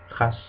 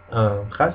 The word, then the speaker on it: khas: And the last one would be kh, and it's pronounced like in Spanish J or kota. An example would be khas. Khas is written khas, khas, and it means particular or special.